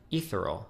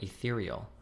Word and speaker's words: ethereal: Somebody etheral. This is one syllable away from the real word. Ethereal. Oh, ethereal. I say etheral. Why do I say etheral? Ethereal. It's ethereal.